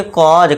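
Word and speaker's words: cause: इस तरह से क्या पढ़ेंगे, कॉज, काउजे नहीं कॉज, क्योंकि देखिए दोस्तों सी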